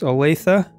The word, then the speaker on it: Olathe: Stan and his wife Lori live in Kansas Olathe Kansas had to work on that pronunciation and they have adult children corner of